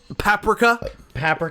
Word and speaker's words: Paprika: Paprika. Am I pronouncing that correctly?